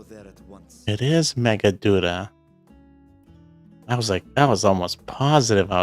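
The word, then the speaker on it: Meghaduta: It is Megaduta. I was almost positive I was pronouncing that wrong.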